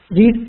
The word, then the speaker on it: read: And simple past, she read a book. Yeah, Niaz, when it's past, we will read it as she read a book. Okay, the pronunciation will be as in the color red.